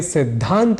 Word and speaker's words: सिद्धांत: बोल जाया करते हैं ऐसे ही हमें सिद्धांत बोलना चाहिए यानी सिद्धांत के द और ध के उच्चारण गत भेद को समझते हुए शुद्ध उच्चारण करना चाहिए लेकिन हम ऐसे ही